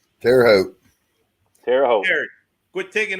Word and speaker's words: Terre Haute: Is it hot, Eric, or is it Hope? It's Hope. It's Terre Haute.